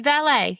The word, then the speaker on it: Valet: Um, so what's the what's the best way to pronounce your company name? It's Valet. It's valet, but I love the the valet because it hearkens back to the English um